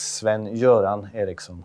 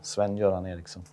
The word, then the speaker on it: Sven-Göran Eriksson: Well, in Swedish it's Sven-Göran Eriksson, Sven-Göran Eriksson.